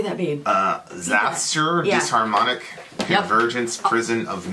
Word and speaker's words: Xasthur: Xasthur, yeah.